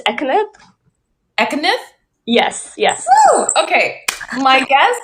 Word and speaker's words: Ekkanath: you say your last name so i can pronounce it correctly oh you're muted hold on you're muted yeah um it's um it's ethnic economic yes yes okay my guest is siobhani ekniv